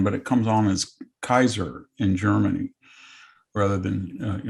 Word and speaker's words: Caesar: has a question uh my new testament greek professor in high school always pronounced caesar as kaiser is that actually the correct pronunciation yes there's all there's there's no differentiation in a heart and a soft c in latin so all of the initial c's are pronounced like k's and we get that